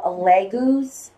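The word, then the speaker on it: Laguz: So, what we've got for you for the month is the rune of Leguz, I believe it's pronounced.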